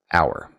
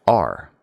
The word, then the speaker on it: our: Some people pronounce the word our like this hour. But other people pronounce it R.